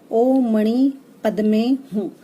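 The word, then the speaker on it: ॐ मणि पद्मे हूँ: जो माने मंत्र है उसका जो प्रोनाउंसिएशन है वो इस तरह से है, ओ मणि पद्मे हूँ।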